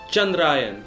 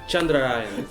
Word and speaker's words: Chandrayaan: Do you want me to offer the correct pronunciation? why not? It's Chandrayaan. Chandrayaan.